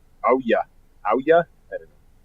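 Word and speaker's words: Ouya: O-U-Y-A. I think that's how you pronounce it. Oh yeah.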